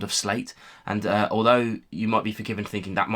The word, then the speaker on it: Sleat: I'm given to believe that the pronunciation is slate, not slate as it's phonetically spelled. Sound of slate.